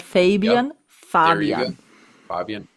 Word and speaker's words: Fabian: Fabian did one. Fabian. We have to say it German because he's German. Yep. Fabian, not Fabian.